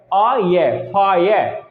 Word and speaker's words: fire: तो देखिए यहां पर क्या है, इसकी प्रोनाउंसिएशन चेंज हो जाती है और ये हो जाता है आये, फायर, है ना।